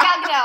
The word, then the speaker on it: Gal Gadot: Yeah, I imagine to your point, it's very similar to when Gal Gadot. 2 years later, we still don't know how to pronounce this. I do. It's Gal Gadot.